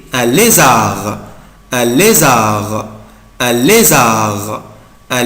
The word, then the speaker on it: lézard: un lézard, un lézard, un lézard, un lézard. Ici je ne prononce pas la lettre D, mais je بنطق حرف D. un lézard, un lézard, un lézard, un lézard, un lézard, un lézard, un lézard.